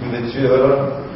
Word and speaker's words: Louverture: We named the correct pronunciation, Louverture.